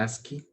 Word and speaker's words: ASCII: el código ASCII, o bueno, en inglés se pronuncia ASCII.